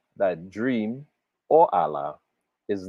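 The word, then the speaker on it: Àlá: The word for dream in Yoruba is Allah, right? It's spelled ALA.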